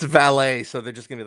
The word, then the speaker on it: valet: It's a French word.